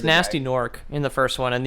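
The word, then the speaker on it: Gnasty Gnork: Nasty Nork, spelt with 2 silent G's. Yeah, it's Ganasty. Okay. Yeah. It's Ganasty Gnork.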